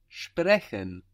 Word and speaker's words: sprechen: To speak is sprechen. That's S-P-R-E-C-H-E-N. Sprechen. Again, a soft CH. Sprechen.